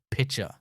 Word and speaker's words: pitcher: Listen to the syllables. Pick-ture. Now we have the big jug or pitcher. This time we say pitcher. So we have pick, chur, and pit, chur.